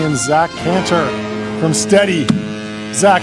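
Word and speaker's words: Stedi: I'm the founder and CEO of Steady. It's spelled S-T-E-D-I.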